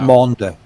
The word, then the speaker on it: Maunder: The Mona, is it a Mona minimum? Mona minimum. You're talking about Maunder. Yeah, Maunder minimum.